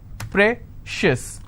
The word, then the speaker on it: precious: on corn conscious okay precious how many syllables again precious i will stress on prey same thing applies for